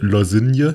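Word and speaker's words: Lošinj: Und zwar hat jemand geschrieben, hi Leute, Lozinje wird Lozin ausgesprochen. Und das wussten wir doch schon längst.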